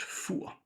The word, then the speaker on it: Fur: I went on this small island with my parents, a Danish island, and it's called Fur, and it's spelled Fur.